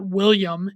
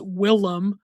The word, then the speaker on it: Willem: His name is not William, it's Willem.